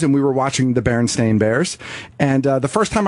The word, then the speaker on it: Berenstain: So So the authors are actually Berenstain. That's the correct pronunciation of their Right. last name, right?